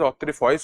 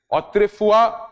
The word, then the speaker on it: autrefois: This particular Latin term की pronunciation I have seen is incorrect at a lot of places by a lot of people. ठीक है, you might use it as autrefois also, but the correct pronunciation or a more appropriate pronunciation is autrefua acquit, autrefua convict.